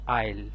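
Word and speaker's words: isle: Same একরকম এখানে এস এর উচ্চারণ না আসে, এখানে হবে আইল।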